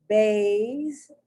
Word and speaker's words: vase: Vase, vase. The S is more like a Z than like an S.